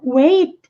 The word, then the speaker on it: weight: E about my weight também poderia ser quanto. Nenhuma palavra quanto ao meu peso. Também é possível, porque mantém o mesmo significado. E weight, percebam que o GH é mudo, não é pronunciado.